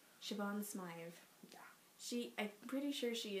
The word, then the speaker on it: Siobhan: Siobhan Smythe.